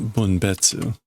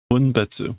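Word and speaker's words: 分別: It's not bunetsu. That is bunbetu. Okay. Bunbetsu, which is a strange word.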